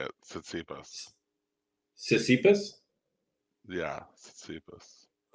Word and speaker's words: Tsitsipas: Yeah, Tsitsipas. The T is silent. Okay. Like Tsitsi, like a tsitsi.